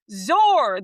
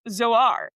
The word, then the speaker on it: Zor: Zor, the god of birth as represented by the orange falcon, technically a female, sometimes pronounced Zoar.